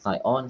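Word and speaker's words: scion: S-C-I-O-N. I think is it pronounced Sion? I think this is something that I mispronounced a few episodes ago. And then Lawrence corrected me. Sion. Yeah, not Sion, Sion. Sion.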